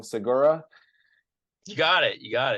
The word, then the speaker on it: Segura: here Stu I'm going to say your last name wrong Segura you got it you got it beautiful awesome